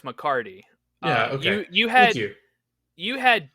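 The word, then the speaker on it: McCarty: healthy I will say you did say the last name wrong it is Dax mccardy you had you you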